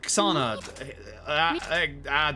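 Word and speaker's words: Xsana: That's how you pronounce that. The X. The X is silent. Sounds like a K.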